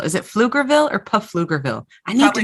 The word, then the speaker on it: Pflugerville: I think the P is silent.